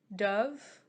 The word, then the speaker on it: Dubh: Dove, Dubh. Dove, I think is how you would pronounce it. I'm not sure.